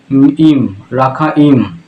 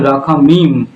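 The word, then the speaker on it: רחמים: হিব্রুতে, তা লেখা আছে রাখা ইম। আমি পুনরায় শব্দটা উচ্চারণ করতে চাই। হিব্রু ভাষাতে লেখা আছে রাখা ইম। আর রাখা ইম বা বলতেও পারেন আপনি রাখা মিম, ইম বা মিম, রাখা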